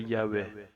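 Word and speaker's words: Yahvé: Aujourd'hui encore, personne ne connaît la véritable prononciation du nom divin, mais les spécialistes s'accordent en général pour dire que la forme la plus probable est Yahée.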